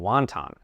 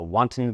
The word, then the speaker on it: wanton: With the word wanton, the stress is on the first syllable. Wantton. Wanton. And it means something completely different than wanton.